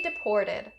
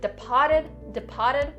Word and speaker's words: deported: For the pronunciation of the word deported, we're going to concentrate on the middle of the word. There's that pour. Don't say pa. Don't say departed, not correct, and that sounds very odd.